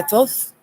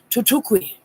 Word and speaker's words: Thoth: I have been spoken to by Thoth, which his name actually is most likely pronounced Tutukwi.